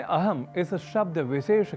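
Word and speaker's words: अहम्: अहम इस शब्द को अहम ऐसा कहना शुद्ध उच्चारण है, पर कुछ क्षेत्रगत प्रभाव हम भाषा पर ले आते हैं और अहम को अहम के रूप में बोल देते हैं और धड़ल्ले से बोलते ही जाते हैं।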